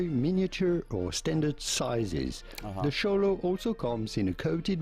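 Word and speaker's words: Xoloitzcuintli: how to pronounce show The X at the beginning is to be pronounced like CH show LS quintly Quint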